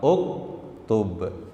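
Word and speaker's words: اُكْتُبْ: Nah, cara bacanya adalah sesuai huruf yang ketiga. Nah, ini kalau ketiganya dhammah, kita baca dommah uktub.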